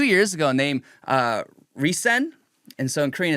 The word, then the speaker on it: RESCENE: girl group that debuted 2 years ago named Reson. And so, in Korean it's Lisena and in English it's r e s c e n e like Resene, but it's pronounced Reson.